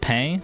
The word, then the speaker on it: pain: bread in French is pay. Literally literally pronounced pay, but it's spelled pain.